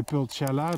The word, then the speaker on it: pulchella: In action, the crimson speckled flunky, Utetaisa pulchella, or I should say pulchella, that's the Latin pronunciation.